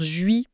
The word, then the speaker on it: je suis: Donc une question d'efficacité et de contexte en fait l'article mentionne aussi d'autres choses comme laisser tomber le e muet dire juis pour je suis ou petit déj pour petit-déjeuner.